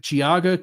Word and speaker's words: Geauga: Um, this is in the Paynesville uh township, Giaga County, Ohio.